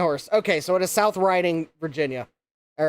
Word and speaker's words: South Riding: Is it South Riding pronounced like riding a horse or is it actually reading?" My dad thought it was actually reading South Reading, Virginia.